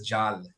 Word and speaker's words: Jal: just just a clarification pronunciation of my name is Jal Jal sorry apologies Jal and you